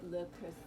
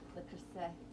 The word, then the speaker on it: Le Creuset: And this is my le creuset. I gotta say it properly. I studied French. Le creuset. Le creuset.